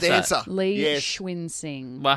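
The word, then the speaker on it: Cunxin: How do you Last pronounce that? dancer. Lee Yes. Schwinsing.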